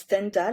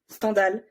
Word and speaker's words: Stendhal: He ST well STHENDAL, and he's a French writer, and he wanted his name to be pronounced Stendhal because it sounds like scandal in French.